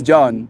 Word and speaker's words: Jean: is John covers in pajamas yeah exactly it's John like j e a n not John but also not pronounced Jean spelled like Jean pronounced Jean it's